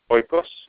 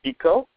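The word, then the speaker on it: οἶκος: It comes from the Greek word that is in English phonetically pronounced oikos, but in Greek it's pronounced eco, and it means home.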